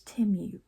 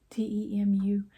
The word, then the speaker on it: Temu: It's Temu, t e m u, like Tim University. t e m u and not Temu.